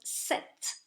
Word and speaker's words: cet: you also notice that those words set CET and set C little to e are pronounced in the same way you have to be